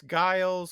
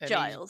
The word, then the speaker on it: Giles: stuttery but it's so it's guiles or any No no no it's Giles combination of or G's just a load of G's and I's and L's.